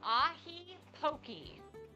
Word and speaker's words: ahi poke: That is ahi poke.